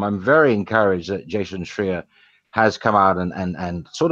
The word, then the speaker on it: Schreier: Schreier like a shear. Shear.